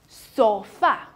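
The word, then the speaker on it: sofá: 上面，所以它读作 sofa，对，sofa。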